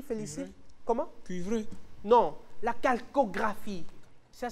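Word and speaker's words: Chalcographie: ça se dit félic comment cuivré non la Calcographie ça s'écrit C H a L C o g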